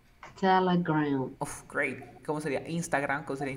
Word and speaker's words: Instagram: Es una E que se transforma en A. Mira. Telegram. Telegram. A ver, tú di Telegram. Telegram. Uf, great. ¿Cómo sería? Instagram. ¿Cómo sería Instagram?